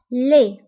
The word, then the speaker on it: laid: beau beau وقبيح laid فبالنسبة لدي ما كنتقواش في آخر الكلمة كنقولو laid قبيح هي laid قوي fort